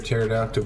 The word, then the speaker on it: pterodactyl: you can't hear a pterodactyl go to the bathroom because they're all dead because the p is silent but they're extinct also